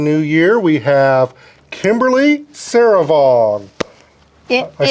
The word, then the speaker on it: Souravong: We have Kimberly Souravong.